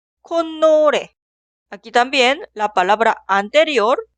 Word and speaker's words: 콧노래: Siguiente, esta palabra es la combinación de 코 y 노래 y se pronuncia 콧노래, 콧노래.